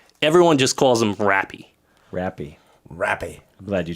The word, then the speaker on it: Rappy: Everyone just calls him Rappy. Rappy. Rappy. I'm glad you chose that pronunciation.